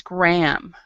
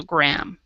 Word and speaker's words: Graham: But most of the time, if the H is in the middle of the word in English, it is not pronounced. So Graham.